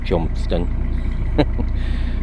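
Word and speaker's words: Cholmondeston: You wouldn't believe it's pronounced Chumston.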